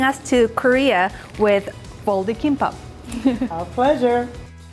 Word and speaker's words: kimbap: Folded kimbap.